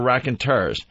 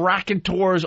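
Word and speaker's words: Raconteurs: pronounce their name yeah I was saying rack and tours all day Don Wickland says no it's rack and turs I thought I so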